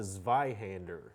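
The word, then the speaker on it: Zweihänder: How do they pronounce what that sword is again? It's called a Zhander.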